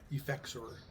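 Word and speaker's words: Effexor: It's called um Eexor. Eexor. Eexor. It's spelled E F E X O R.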